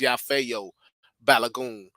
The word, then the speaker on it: Yafeuh Balogun: like share subscribe to the channel um I'm yafo balagon I know you see the name like how do you pronounce that it's yafo balagon that's how you pronounce it of the balagon